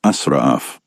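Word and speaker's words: إسراف: The Arabic word for this is pronounced as israf.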